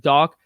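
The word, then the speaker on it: Dach: for the way that we pronounce Kirby doc seriously Dak doc I think it's doc so we'll stick to that but try I'll try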